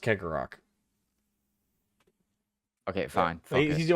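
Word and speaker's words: Cegorach: I think Cheggorak, yeah. Cheggorak. Yeah, Kegarok. yeah, I think it's. Oh, I think it's Kegarok. pronounced Kegarok.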